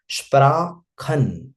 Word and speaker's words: Sprachen: This one, Sprachen and Sprechen. Sprachen, khan wala sound, that is particularly language. Sprechen wala sound, that is to speak.